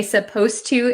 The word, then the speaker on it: supposed to: suppose and supposed to when we say supposed to it sounds like the D disappears but it's actually still there so be careful with that one okay